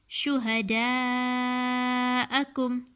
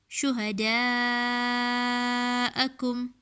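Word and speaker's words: شُهَدَاءَكُمْ: Shuhada'akum, alif open letter, and then this is known as madya muttasil. Why? Because we're going to pull it for 5 alifs. Shuhada'akum.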